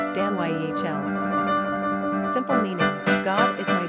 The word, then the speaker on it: Danielle: Pronunciation, daniy'el.